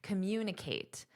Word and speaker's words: communicate: Now notice my pronunciation, because we have the word communicate, and the syllable stress is on this 8, communicate.